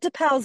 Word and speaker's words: De Pauw: Aston Villa manager Robert De Pauw's name is actually pronounced like owl without the L.